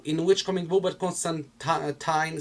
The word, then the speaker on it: Constantine: It's probably, I don't know in which comic book, but Constantine says that it's actually pronounced Constantine, not Constantine. But considering everybody says Constantine, it just got rooted in all of the comic book fan base, so I'm not gonna give you shit for that.